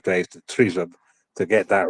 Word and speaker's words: Tryzub: Tryzub. Tryzub. Oh, brilliant! It's taken me a week. It's taken me about 5 days to Tryzub to get that right.